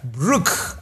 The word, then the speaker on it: Bruk: for having me so your name is Brook Brook okay spelled differently but pronounced the same you know kind of